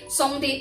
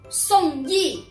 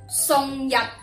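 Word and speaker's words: 宋軼: 两个字，你会唔会将佢读成宋天、宋跌或者宋远呢？都系错。嗱，普通话正确读音系读依依，宋依宋依。咁呢个字粤语系读日日，宋日。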